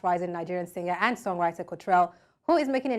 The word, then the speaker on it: Kotrell: hi cultural how are you hello am I pronouncing it right Cottrell cultural perfect okay so where did that name